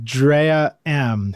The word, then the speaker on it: Drea.M: This one's spelled like dream, but it's Drea.M.